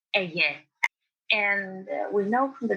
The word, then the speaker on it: Aegae: That is written Aigai. And people tend to pronounce it as Aigai or whatever, but it's Aegae.